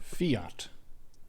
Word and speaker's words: fiat: Not sure how to pronounce that. Fiat.